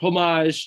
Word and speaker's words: homage: like a like a homage to uh or homage you know another pronunciation we have an homage i'm sorry yes i'm